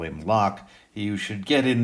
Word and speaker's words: Locke: begin with what's simple Locke is his name that's how you say it has a silent E on the end it's like the common word Locke you lock your car and open the lock with a key but if you're spelling